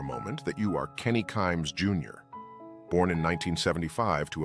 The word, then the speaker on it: Kimes: picture said in part kimes rhymes with climes the competing Washington Post